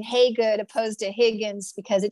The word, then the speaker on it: Hagood: They say Hagood. No, it's spelled that way, but it's pronounced Hagood. Like, hey, she's good. And that's why I went back to my birth name, Hagood, opposed to Higgins, because